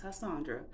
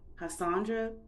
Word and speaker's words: Hashondra: I'll be like, no, my name is Hashondra. It's not that hard to say. You can say Cassandra, Lasandra, Sandra, whatever. So you can add that ha in it. So Hashondra is the correct pronunciation of my name. It's a play off of Hassan.